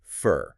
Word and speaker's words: for: And the word for doesn't sound like the number 4, it becomes fur.